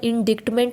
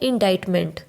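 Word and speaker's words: indictment: पढ़ने में ये वर्ड इंडिक्टमेंट लग रहा है, पर इसकी प्रोनाउंसिएशन क्या है? इंडाइटमेंट।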